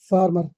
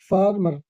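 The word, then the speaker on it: farmer: Y healthy सेहतमंद सेहतमंद फार्मर किसान फार्मर फॉर्मर नहीं फार्मर किसान ई एन जी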